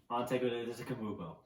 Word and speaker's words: Antetokounmpo: Antetokounmpo. Yeah. You're welcome for the pronunciation.